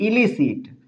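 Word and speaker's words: illicit: एलिसिट एलिसिट इन दोनों का भी प्रोनाउंसिएशन थोड़ा सा अलग-अलग है। इसे पढ़ेंगे एलिसिट। इसे पढ़ेंगे इलिसिट। एलिसिट इलिसिट एलिसिट means क्या हो जाएगा?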